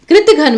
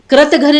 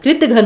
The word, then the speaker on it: कृतघ्न: अब है कृत्य घन कृति घन में अब आपको ये देखना है के के साथ री स्वर आएगा या के आएगा kritghar नहीं होता कृत घन होता है क्योंकि इसका उच्चारण जो